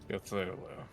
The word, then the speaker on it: Cthulhu: I think his name rhymes with Pachulu in Floggin. Cthulhu.